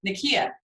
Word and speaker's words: Nakia: All right, so we have at number 3, I have Nakia. Is that how you say it? Yeah, Nakia from Black Panther, and Lupita Nyong'o is incredible,